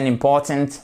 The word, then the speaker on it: important: the same country non on a l'accent tonique sur la deuxième syllabe this is a importante meeting c'est une réunion